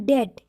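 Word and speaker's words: debt: डाउट एंड डेट इसमें भी बी का उच्चारण नहीं हुआ है, क्योंकि इसमें टी से पहले बी आया है।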